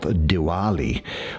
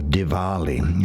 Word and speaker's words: Diwali: particularly used in the Indian religions festival of Diwali or Diwali as is sometimes pronounced which is representing the triumph of light